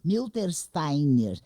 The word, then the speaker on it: Miltersteiner: obra Doutor em medicina também milter Steiner é assim mesmo que se pronuncia seu sobrenome porque eu fico muito fechada